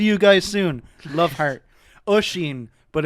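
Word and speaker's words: Oisín: Oisin, but it's spelled Usheen.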